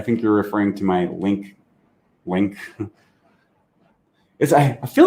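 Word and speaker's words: LingQ: i n g q it's pronounced link for those words okay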